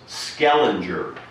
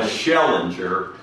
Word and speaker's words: Schellinger: Where the Cape May Star reporter had to correct me that the name was Skellinger Landing, not Schellinger, as I so crudely pronounced it.